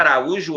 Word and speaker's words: Araújo: letra C em sílaba a ra u jo reparem que o u fica sozinho Beleza o u fica sozinho última penúltima a sílaba tônica é a penúltima realmente essa palavra é a palavra Araújo é paroxítona entretanto ela